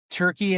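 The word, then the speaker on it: Türkiye: Turkey is the uh the approved uh pronunciation as of a couple years ago. T U R K I Y E.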